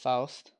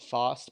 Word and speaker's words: Faust: And I believe I'm pronouncing it right. I believe when I was younger I said Faust, but I do think it's Faust.